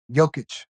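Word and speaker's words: Jokić: Jokic.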